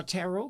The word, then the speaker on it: tarot: Uh now tarot cards, how do you spell that? T T A R O T like carrot. Yeah. But with one R, right?